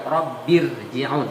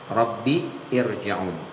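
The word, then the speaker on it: رب ارجعون: ahadahumul mautu qbiriun ini dibacanya tafkhim meskipun sebelumnya berbaris kasrah dibacanya Bukan rbirjiun tapi rbir birjiun kenapa karena sebelumnya ada Alif ya Rabbi ada Alif tuh Rabbi irjiun karena ada Alif tidak berharakat itu maka dibacanya tafkhim tebal Hatta ja ahadahumul mautu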